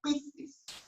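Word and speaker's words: πίστις: desciende de una palabra que en griego se pronuncia como pistis.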